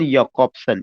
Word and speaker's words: Jakobson: दूसरा एक नाम है रोमन याकॉब्सन, ये बहुत ज्यादा इंपॉर्टेंट नाम है, रोमन याकॉब्सन। याकॉब्सन का स्पेलिंग जे से है, JAKOBSON, KOBSON।